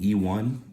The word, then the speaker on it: Eone: And this is her Eone, E1. It's spelled EONE.